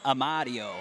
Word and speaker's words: Amadio: Remember, you got to say that like a true Chicagoan. Amadio.